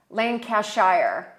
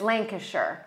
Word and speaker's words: Lancashire: worst duster shire yeah lane cashier but it's lancashire shire yeah apparently it